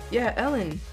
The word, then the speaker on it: Ellen: And people start blaming Ellen. Oh wait, I'm stupid. Yeah, because Cure Beat, Eden, Ellen. I'm pretty sure they mistake R's. When it comes to English, Ellen. Yeah, not Eden.